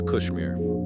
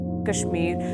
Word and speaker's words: Kashmir: in the Western World people in the East pronounce it as Kashmir Kashmir Kashmir the Kashmir Valley the Kashmir Mountain the